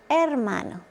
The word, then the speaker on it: hermano: It's not hermano, it's hermano.